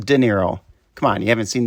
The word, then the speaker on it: Niro: or e-nero in europe no not nero but nero as in near-zero apparently it's really for near-zero defects and not near zero emissions kind of weird but honest and pronounced de niro come on you haven't